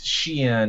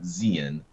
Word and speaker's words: Xi'an: know the correct pronunciation much like it's Xi'an not Zeon um will have multiple